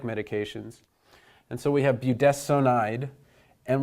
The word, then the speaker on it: budesonide: and so we have budesonide and we pronounce this s o n not as Sun but as sewn and I'm not going